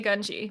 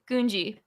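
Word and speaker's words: Gungi: just rewatched it a couple of them do say ganji but most of them say kunji so that's that and it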